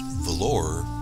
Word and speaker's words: Vallor: It's actually pronounced Valor, but I'm not too hungry.